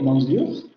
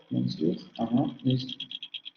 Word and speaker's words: monsieur: Excepto en la primera sílaba de maison, aquí la tenemos escrita así, maison, de monsieur, que la vamos a tener escrita monsieur, monsieur, que la vamos a